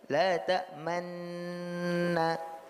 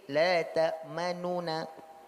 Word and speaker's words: تأمنا: Nah, kemudian ketika kita mengucapkan rom pada la ta'manna, itu ada dua cara bacanya. Pertama adalah ismam, seperti yang kita sampaikan kemarin, la ta'manna. Kalau ismam dia idgham, tapi ada isyarat dari mulut berupa isyarat dhamma. Nah, sementara pada raum dia hanya dibaca sedikit, la ta'manuna. Dia tidak, nun tidak penuh, tapi diucapkan sebagian, tapi nunnya juga jelas.